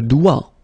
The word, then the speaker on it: doigt: Le doigt. Le doigt. Okay, so don't be frightened by this G because basically you don't pronounce it and then the final T you don't pronounce it.